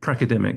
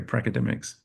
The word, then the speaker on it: pracademic: Pracademic. So I guess we're pracademics, not crackademics, but pracademics.